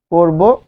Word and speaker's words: করব: তাহলে উচ্চারণটা কি, করিব, করব, উচ্চারণটা হচ্ছে, এটা হচ্ছে চলিত শব্দ, উচ্চারণটা হচ্ছে করব।